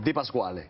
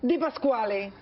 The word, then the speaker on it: Di Pasquale: Un poquitico le faltó el acento ahí pronunciado, pero vamos bien, bien. Pronúncialo bien, a ver. Di Pasquale. Di Pasquale. ¿Ahora sí? Ahora sí, perfecto.